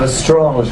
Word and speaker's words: Lestrange: Lestrange, do you hear that? The French pronunciation.